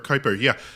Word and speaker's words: Kuiper: Well, isn't that the thought about the object they believe is somewhere outside of the Kuiper Belt? Is that how you say it? Yeah, Kuiper, yeah.